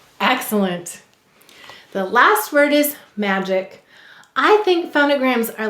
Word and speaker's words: magic: second syllable's ick now what sound of do you hear in magic the second